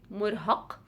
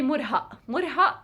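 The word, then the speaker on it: مرهق: english so it's the so it's the heavy k so you would say murhaq for a meal and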